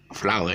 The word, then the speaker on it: flour: is towel down and the same thing flour flour is pronounced as f-l-o-u-r flour okay same pronunciation though